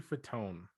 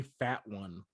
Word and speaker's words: Fatone: Yeah, his name is Joey Fat One. No way, dude. It is. It's Fat One. Why is that his last name? How did we just buy that pronunciation for our whole life? He was just like Fatone, and everybody's like, sounds good.